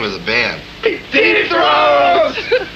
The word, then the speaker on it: Zoetrope: One other thing I wanted to ask you was, how do you pronounce the name of the band? ZOETROPE!